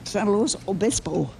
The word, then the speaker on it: San Luis Obispo: California, San Luis Obispo, California. California. Okay. How do you pronounce that name again? The town? San Luis Obispo.